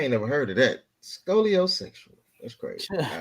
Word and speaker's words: scoliosexual: Is it scoliosexual?